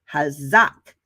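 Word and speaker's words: חזק: It is pronounced hazak, right? Hazak.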